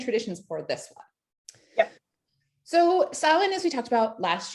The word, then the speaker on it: Samhain: some history and traditions for this one so silent as we talked about last year which you